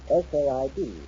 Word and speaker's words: Port Said: Port Said. That's Port Said. What? Port Said. S-A-I-D. It's pronounced Said.